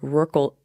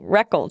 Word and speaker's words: Reckle: So Are you okay with it sometimes rhyming with Merkle though? Because then it would be Merkle. Because you said Reckle tree.